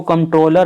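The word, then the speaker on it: Comptroller: तो इसको कंट्रोलर and auditor general बोलते हैं। और एक बात और देखो, यहाँ पे कंट्रोलर नहीं है, कम P यहाँ पे साइलेंट है, कंट्रोलर ना P।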